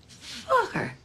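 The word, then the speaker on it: Focker: Oh, just like it's spelled. F-O-C-K-E-R. Fokker. Hmm. Fokker.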